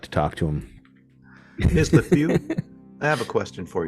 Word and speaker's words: LaFeau: And how is that last name? LaFew. Spell that, please.